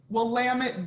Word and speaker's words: Willamette: be familiar with the willamette or the did i say it correctly it's okay here's a good thing we'll lamit damn it it's a you know